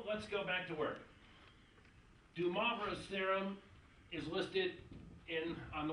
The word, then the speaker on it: de Moivre: I got this off a web page from Stanford saying it should be Moivre.